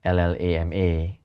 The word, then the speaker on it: LLaMA: And I think it's changed a lot last year when Meta released what we call LLAMA, or what we pronounce as Llama, right?